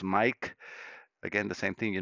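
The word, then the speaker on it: Maic: Again, that's how my name is spelled, M-A-I-C, and sounds as Mike.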